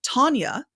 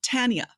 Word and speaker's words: Tanya: And she said, "Oh, by the way, my name is pronounced Tanya, not Tanya." And I had been recording the pre-show saying Tanya, and that little difference, that little thing, she wasn't upset.